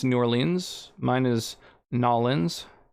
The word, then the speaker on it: New Orleans: new orleans mine is nollins i think that is how locals pronounce it um but i say new orleans helicoprion is an extinct